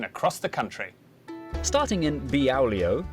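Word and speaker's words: Beaulieu: Starting in Biaulio, Beauty, head over to Rampisham, Ransom, then down to Mousehole.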